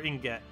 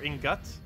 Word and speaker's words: ingot: It's pronounced Inget, or Ingut. Oh, Ingut. Okay.